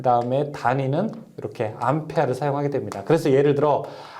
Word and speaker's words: 암페어: 암페어라고 읽는 것이 일반적이고요. 외부에서는 이제 외부라고 하는 것은 이제 비표준어로서 암페어, 암페르 여러 가지 말이 있는데 보통 우리가 암페어라고 읽게 됩니다.